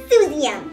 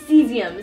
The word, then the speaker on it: cesium: it's water and this last one here is soothing which is this one say hello actually it's cesium cesium and water cesium is most alkali-based metals